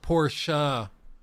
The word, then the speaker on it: Porsche: Well, it's pronounced Porsche. Porsche. It always reminds me whenever I say Porsche, because some people say Porsche, some people say Porsche,